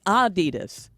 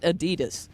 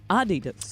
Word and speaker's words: Adidas: It's supposed to be Adidas with a slight emphasis on the first syllable, not Adidas stressing the second. Adidas.